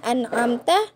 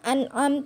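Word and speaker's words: أَنْعَمْتَ: pada level Anta ya harusnya an'amta dibacanya Anom tuh nah itu salah ya Hai kemudian kalau untuk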